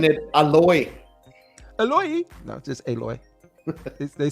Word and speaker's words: Aloy: to fake ass Avatar alloy is that how you say your name alloy alloy yeah alloy aloy aloy I think is how they say it isn't it alloy aloy no just aloy they say it super